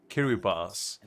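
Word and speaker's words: Kiribati: so actually the furthest one is uh kirati pronounced kir uh kiribas is the only nation on Earth to per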